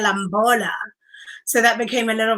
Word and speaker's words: Lamola: I mean, you can't quite see it, but basically they mispronounce my name to, like, instead of saying Lamola, they say Lamola.